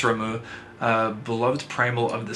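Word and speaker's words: Ramuh: remo remo beloved again i'm not sure on the pronunciation of this one but i believe it's ramu a beloved primal of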